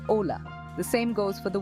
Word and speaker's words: hola: the word hola hello starts with H but you only pronounce Ola the same goes for